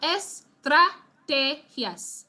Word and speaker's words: estrategias: So we have estrategias, okay? Which is the second to last syllable?